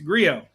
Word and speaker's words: Grillo: I'm American it's a Grio no okay why do you pronounce the L in his first name and not in the in the last name I mean why is